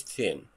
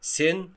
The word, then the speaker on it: thin: خد بالك قوي قوي من نطق TH هنا. لو قلتها بالسين كده سن هيكون معناها ذنب، معصية أو خطيئة، وانت هنا مش بس غيرت صوت الكلمة، لا، انت جبت كلمة تانية خالص ومعناها اختلف.